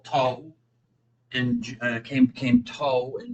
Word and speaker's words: Tao: If I remember correctly, cuts in Japanese from Chinese and this comes from Tao in Chinese which they call toe and came came to in Japanese.